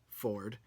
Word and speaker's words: Fjord: willingham is playing ford spelled fjord but pronounced Ford Ford is a half-orc and